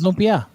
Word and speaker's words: lumpia: just said it yeah it's lopia is that the way it's pronounced i'm not sure it is yes yes it is well you're you are